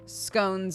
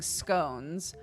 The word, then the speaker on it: scone: over them every time scones is one so I grew up saying scones but here they say scon um and I love